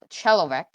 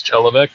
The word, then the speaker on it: Chelovek: Okay, then candidate Chalovek, sorry for pronunciation, please introduce yourself. My name is Chelovek.